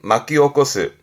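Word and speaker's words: 巻き起こす: 발음은 마키오코스. 한자 그대로 말려서 일으키는 부분이라 먼지를 일으킨다라든가 그 일으킨다라는 의미에서 예상 밖의 일을 야기하는 그래서 뭔가 혼란을 일으킨다라든가 사회적 반향을 일으킨다라든가 그런 문제를 일으키는 그런 부분에서도 이제 마키오코스 쓰기도 하고요.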